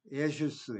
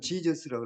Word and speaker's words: Jesus: 예수스 해봐. 예수스. 우리나라에서 가장 근사한 발음으로 번역을 했어요. 예수스. 영어로는 지저스라고 그랬지만 실제로는 예수스예요.